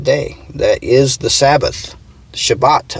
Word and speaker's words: Shabbat: Shabbat, I believe it is pronounced in Hebrew.